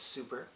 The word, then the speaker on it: SUP: It's pronounced super.